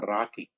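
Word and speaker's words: RoCE: rdma over converted ethernet roc pronounced as a rocky rocky stands for rdma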